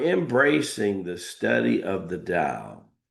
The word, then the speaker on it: Dao: You know, when we're embracing the study of the Dao, all right, pronounced da o da but spelled tao, which basically means the